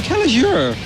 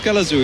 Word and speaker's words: Kelazhur: exist on ptosis yeah he just keeps calling him Kelly sure I told him already it's callous do he's like no no